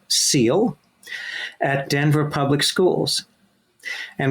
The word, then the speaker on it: SEAL: emotional academic learning and that's an acronym that is pronounced seal at Denver public schools